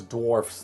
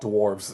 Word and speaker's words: dwarfs: Like even if you're referring to more of them, it's dwarfs, not dwarves. It's strictly that.